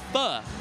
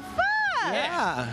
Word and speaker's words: pho: I HAD PHO. OH, PHO!